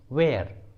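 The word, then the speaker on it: where: डब्ल्यू के बाद एच आता है तो एच साइलेंट होता है। For example what, what. वेन, वेन। वेयर, वेयर।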